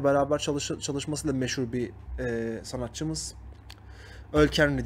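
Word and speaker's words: Ol Kainry: Öl Kenry diye okunuyor. İngilizce okuduğum için Ol Kenry diye okudum.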